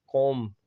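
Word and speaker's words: comb: कॉम, ठीक है, तो कॉम जो ना बी साइलेंट हो जाता है।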